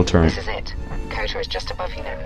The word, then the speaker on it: Kota: Kota. Sounds like rhymes with Yoda.